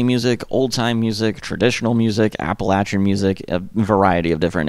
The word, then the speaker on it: Appalachian: in the kind of rural communities in the Appalachian Mountains. And look, I know I'm bad at pronouncing things, I mispronounce things all the time on this channel. Appalachian is how you say it.